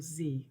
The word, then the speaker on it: xe: I'm going to use the example Z, which is spelled XE.